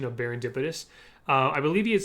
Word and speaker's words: Baron Dipitous: i actually remember that he struggled with the pronunciation of barindipidus uh i believe he had said something like baron depidius or something like that i really don't blame